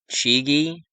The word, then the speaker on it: Chigi: This fire started 201 days after the Pope's birthday, whose name was Fabio Chigi, that's how you pronounce it, a name equating to 201 as well.